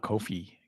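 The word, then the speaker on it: Ko-fi: Anyways, Kofi, I'm not saying it right, but it's Ko Fi.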